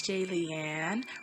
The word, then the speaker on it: Jaylianne: something else okay hey it's jay leanne rhymes with alien like if you're a